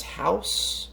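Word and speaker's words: Hausu: watched next up is house or hausa i believe is how you pronounce it in japanese uh spine539 fantastic japanese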